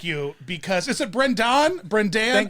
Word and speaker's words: Brendon: Brendon, I like you because is it Brendon? It's an O. It's an O. But what is your preferred pronunciation? you know, like Brendy? Do people call you Brendy? No, do not call me Brendy.